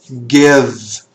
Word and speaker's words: give: Give. Olha a pronúncia. Presta atenção que o E no final das palavras geralmente não tem som.